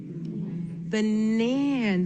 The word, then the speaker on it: banana: So, when I look at this this word right in here, banana, I actually notice not only is that first syllable unaccented, but the third syllable is unaccented here. So, in the very beginning, nan is the accented syllable.